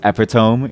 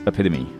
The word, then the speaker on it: epitome: feel awful about yourself the first time I ever pronounced epome inside of class and then my teacher said it's epitome everyone laughed at me